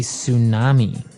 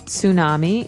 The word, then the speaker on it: tsunami: they may have a tsunami. Well, this doesn't sound very English, does it? I know. Tsunami. And actually, if you see the spelling, it's with a ts, right?